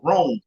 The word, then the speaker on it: Rohn: to look up jim rohn his last name is spelled r-o-h-n rome jim rohn good to see you john jackson